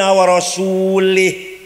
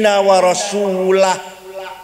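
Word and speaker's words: وَرَسُولُهُ: Ada orang baca Quran salah. Innallaha bari'um minal musyrikin wa rasulih. Allah tidak melindungi orang musyrik dan tidak melindungi rasulnya. Salah. Yang benar bacanya innallaha bari'um minal musyrikin wa rasulah. Allah tidak melindungi orang musyrik dan Rasulullah pun tidak melindungi orang musyrik. Warasulah bacanya, jangan warasulih.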